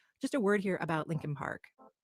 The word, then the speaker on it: Leakin Park: a word here about Lincoln Park it's actually spelled lein Park l e a k i n but almost everyone in Baltimore pronounces it Lincoln Park it's huge over a